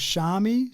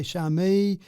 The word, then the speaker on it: Xiaomi: Yeah, they've got a couple interesting pronunciations, have they? So, I I say that one is Xiaami. So, you say Shami.